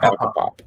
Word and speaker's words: Acapop: So, I want to make sure I say, it's Acapop? How do you say it again? Oh, okay. So it's like you're saying acapella, like aka, and then pop, like so like Acapop.